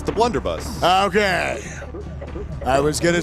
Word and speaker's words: Blunderbuss: It's the Blunderbuss. Okay. I was going to say it wrong again. It was like Wonderbust thing, whatever it's called.